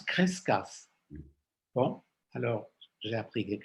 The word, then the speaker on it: Crescas: Ça s'écrit Kuf Resh Shin, Kuf Shin. Il est très peu cité. Je l'ai trouvé dans un article quelque part. On prononce Crescas, Charles. On prononce Crescas.